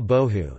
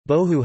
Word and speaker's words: bohu: Bohu has no known meaning and was apparently coined to rhyme with and reinforce tohu. The phrase appears also in